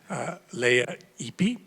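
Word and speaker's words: Lea Ypi: and political progress, was how to pronounce her name properly. Leah Ipi.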